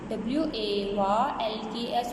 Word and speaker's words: walks: जूबी WALKS walks, Jubi walks। Now here the word L is silent so that I cross the L।